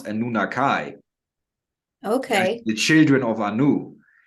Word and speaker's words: Anunnaki: experience of uh of people know them as the Anunnaki but they actually pronounce a nunakai okay the children of